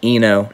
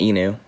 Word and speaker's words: ENO: oh eno enu enu guys i'm sorry it's pronounced eno not enu e no um yeah